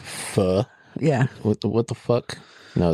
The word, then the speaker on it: pho: Yeah, PHO being pronounced pho fucks with me so hard. It should be faux, if anything. Or it should be po.